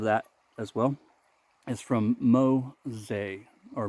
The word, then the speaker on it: Mossei: and they responded, and it's Mo like mono, that's the name of the razor, and then say like the word say.